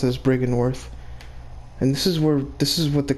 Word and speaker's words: Byrgenwerth: Or Byrgenwerth as it's spelled, but they pronounce it as Byrgenwerth.